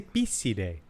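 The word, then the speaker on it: Picidae: Say Pisidae. Yeah, true. That's what it would be. Say it like you would say in like an Italian. Yes, Latin does sound best when it's pronounced as if you were an Italian.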